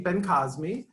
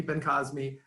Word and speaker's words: Bencosme: My name is Bencosme. I know it's a little hard to pronounce. Think of Bing Crosby is what I say, but Bencosme.